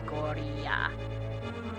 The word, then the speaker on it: Goriya: But if it's roughly the same name, I go by the Japanese pronunciation, which should be Goriya.